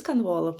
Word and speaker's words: Konvolo: Do I pronounce it correctly? Yeah. Convol. It's correct. Yeah. Yeah. And what is Convolo?